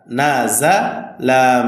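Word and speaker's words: نَزَلَ: লাম নুন জবর না জা জবর জা না জা লাম জবর লাজালা না জালা হবে না সঠিক উচ্চারণ হবে না সঠিক উচ্চারণ নাজালা তাড়াতাড়ি হবে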